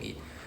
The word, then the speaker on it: へ: Written like the HE one, but pronounced as just E.